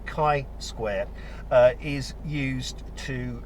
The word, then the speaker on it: chi: have here Rob suggesting that something called the chai is actually pronounced Kai Square uh is used to uh determine who